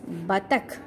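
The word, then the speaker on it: बतख: Okay, so ullu, u, symbol of u is used, that's why we pronounce it as ullu. Okay, next one is batak.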